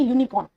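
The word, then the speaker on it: unicorn: सी ओ आर एन इसे हम क्या प्रोनाउंस करेंगे यूनिकॉर्न है ना तो यूनिकॉर्न में देखो एई आई ओ यू वोल तो है लेकिन साउंड कैसी आ रही है यू यानी वाई की साउंड आ रही तो वाई क्या है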